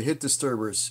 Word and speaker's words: Hit Disturbers: He is the name of the band is the Hit Disturbers. Yes, the S is silent.